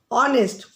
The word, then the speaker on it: honest: Honest. See, it is starting with H. H-O-N-E-S-T. But we are pronouncing as honest.